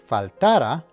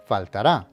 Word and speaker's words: faltará: Note that the emphasis is on the last syllable as indicated by the accent. So make sure that you don't pronounce this word faltara, but instead faltará.